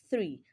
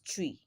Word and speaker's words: three: THREE should be pronounced as three and not tree. Remember that the first sound in the word three is a voiceless dental fricative.